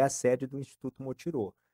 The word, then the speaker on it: Motirõ: Então, ali é a sede do Instituto Motirô. E Motirô significa, né, Mutirão. É, na verdade é uma palavra, né, indígena, né, se se escreve motiron, mas se pronuncia motirô.